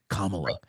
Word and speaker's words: Kamala: It's Kamala."